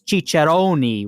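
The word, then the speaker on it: ciceroni: first and it was spelled like the Italian plural which is chichoni with an i at the end right and when it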